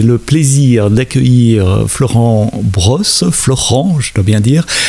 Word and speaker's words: Florent: Florent, je dois bien dire. Je t'explique pourquoi j'ai cette tendance à dire Florian, c'est parce que mon fils s'appelle Florian. Et donc, j'ai du mal à prononcer Florent.